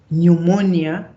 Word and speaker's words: pneumonia: you pronounce it and the way that you spell it those that they're different but the more you see the weight pneumonia psychology you will never thought that there's a p on psychology but there